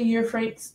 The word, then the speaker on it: Euphrates: So he fled with all he had, crossed the Euphrates River, and is that how you say it?